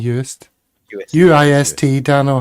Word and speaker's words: Uist: Was my pronunciation off there, Paul? Uist, I think it was all right. Uist, it is definitely Uist.